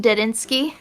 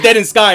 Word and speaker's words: Dedinsky: It's funny because I didn't realize that that's how his name is pronounced, Dedinsky. You said it Dead in Sky, right?